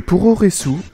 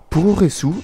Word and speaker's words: puroresu: le pouroressou est le nom donné au catch japonais pouressou est une dérivation de la prononciation japonaise de pro Westling qui signifie littéralement catch